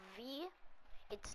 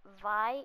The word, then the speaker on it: V: For now, we still have V. It's not pronounced Vi, it's V.